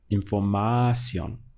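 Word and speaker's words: información: number three in formación but this word does not obey that default setting and that is why in the written language you'll see the accent over the O because it's telling you now that this word breaks the rules it's not the default setting and you stress the last syllable the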